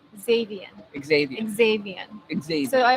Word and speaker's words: Xavian: to say it wrong melanie turquoise it's x xavien xavier xavier exactly so i always i always